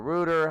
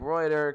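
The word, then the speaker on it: Rueter: Or Reuter, however you want to say it. I would say it like Reuter.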